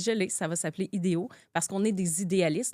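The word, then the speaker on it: Idého: l'ai ça va s'appeler idéo parce qu'on est des idéalistes. Donc ça se prononce comme des idéos.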